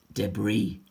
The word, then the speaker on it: debris: is really mean it's debris the S is silent at the end so you got document